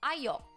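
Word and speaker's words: ayo: this is the word it is called AO or yeah it is technically written AOK with a K is what I learned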